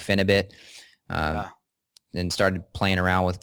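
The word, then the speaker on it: Phenibut: So me and my dad took a little pinch of Finabit. Some people pronounce it Finabute, and I'm not trying to get away from your question, but this is in the same category of nootropics here.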